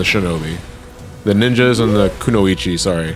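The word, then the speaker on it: くノ一: The ninjas and the kunoichi, sorry. How do you pronounce that? Is that kunoichi?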